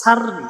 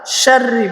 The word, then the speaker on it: شر: অনেকজন ওয়ামিং শাররি এটা উচ্চারণ করতে পারে না, সাররি সাররি বলে, ছোট শিন করে। এজন্য আসুন আমরা শাররি বলবো, আর গয়নটাও উচ্চারণ করতে পারে না।